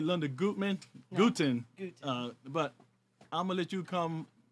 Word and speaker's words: Gutin: my name is Linda guten gtin it rhymes with Putin brought up whatever that's